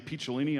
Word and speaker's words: Picciolini: And I was afraid to tell him, because the last name Picciolini, unfortunately, rhymes with just about anything weenie.